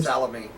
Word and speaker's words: Salome: Salome, dear. Who? Salome? Salome. Uh-huh, that's how you pronounce it.